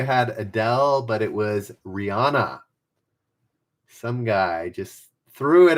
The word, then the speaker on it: Rihanna: Rihanna. Rhymes with Hannah? Rihanna?